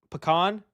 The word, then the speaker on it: pecan: That literally sounds like pee in a can.